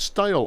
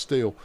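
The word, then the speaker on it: stele: with hundreds of Steel stale I've always called it stale I think it's pronounced steel um uh inscribed with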